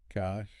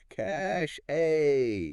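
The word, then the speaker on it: cache: You hear cash a cash a Yeah. Like trying to make it fancy. Yeah. But really it's just it's just cash. Cash. Yeah. Rhyming with flash.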